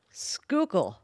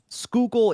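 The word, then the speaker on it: Schuylkill: it it's written like scil kill right okay it's s c h u y l k i l l kill here I'm just going to do a screen share so they can see it there skookle yeah skookul is how it's pronounced but um a show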